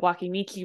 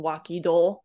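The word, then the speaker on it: 脇道: Because waki is always pronounced as waki. You never change its reading. So that makes it wakimichi rather than wakido.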